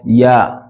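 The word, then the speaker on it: ي: then we have y y also comes from the middle of your tongue y it touches the center of your mouth yah there Center of your upper mouth in so that those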